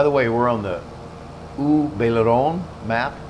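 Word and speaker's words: Haut-Beyleron: way, we're on the U Baileron map, U Baileron. If you try to look at it in English, it looks like Alt Baileron, but it's pronounced, it's French, it's U Baileron, means upper Baileron.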